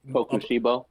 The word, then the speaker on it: Kokushibo: I can't pronounce the nigga's name. Kokushibo.